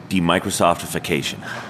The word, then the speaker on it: demicrosoftification: Demicrosoftification. Great job. Demicrosoftification or something. Almost. You missed a syllable. That's very common. I missed it. I missed an F, an if in there.